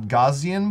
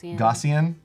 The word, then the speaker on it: Gaussian: blur and just add a slight gout got Gaussian blur I have been designing for 11 years and still pronounce that differently every time I say Gaussian Gaussian blur so you'll see as we do